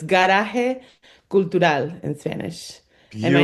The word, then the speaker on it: Garage Cultural: We do try to stay true to our Spanish pronunciation, both in our name as an organization and me as an individual. So it's Garaje Cultural in Spanish.